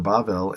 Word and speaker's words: Babel: Okay, so there's Babel or Bavel, and then there's Balel. So it says that it was called Babel because they confused, and it sounds like the word Balel, okay, which means to confuse.